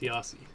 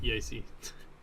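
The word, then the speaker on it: YaCy: It's pronounced Yasi. Yep. Yeah. But I always used to pronounce it Yasi.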